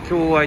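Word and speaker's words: 狭隘: まあ狭隘って読むんですけど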